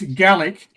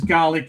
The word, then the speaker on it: Gallic: It's Gallic. Gallic. Pronouncing Gallic as Garlic is borderline racist, to be brutally honest.